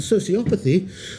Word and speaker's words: sociopathy: stress on the third, and sociopathy with a stress on the second to last.